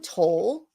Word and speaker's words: Toll: Hold on one second, because I wanted to pull up how to say her last name. It's actually Judge Jean Toll.